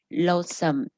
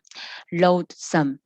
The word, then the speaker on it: loathsome: Loathsome. Loathsome. Cái chữ này không đọc là thò ha, không có đọc thành cái âm thò mà đưa lưỡi, mà nó là âm đờ sát răng đó bạn.